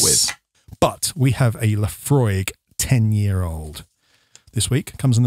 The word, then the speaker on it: Laphroaig: But we have a Laphroaig 10-year-old this week. Comes in a nice tin. Laphroaig is spelled LAPHROAIG.